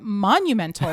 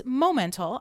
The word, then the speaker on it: Momental: so whatever but it's momental i always say it's the word moment with an a-l on the end and uh that is